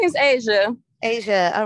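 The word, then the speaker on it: Aysia: i caught the moving target my name is asia asia all right go ahead asia and spell it for me if you would please it's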